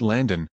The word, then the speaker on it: Landon: It's pronounced Landon, with an A, not an O. His name is spelled L-A-N-D-O-N.